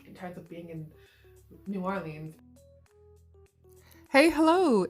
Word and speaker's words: New Orleans: here to correct myself i said new orleans multiple times um throughout this video where i've learned that it's actually pronounced like new orleans so apologies for that